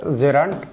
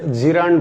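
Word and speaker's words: gerund: তাহলে আমাদের আলোচনার শুরুতে যেটা আছে সেটা হচ্ছে জেরান্ড। অনেকে জিরান্ড বলে, কিন্তু প্রোনাউন্সিয়েশন জিরান্ড হবে না, হবে হচ্ছে জেরান্ড।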